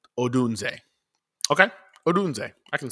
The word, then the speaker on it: Odunze: So, Odunze.